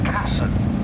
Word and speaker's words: Casson: Stephen Casson, that's how he likes it pronounced.